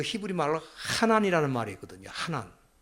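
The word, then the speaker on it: חנן: 하난. 조금 더 정확하게 발음하면 하난, 이 가래 끊는 소리 있잖아요. 하난 그래야 되는데, 왜냐하면 이렇게 그 히브리어 단어가 그렇게 되어 있습니다.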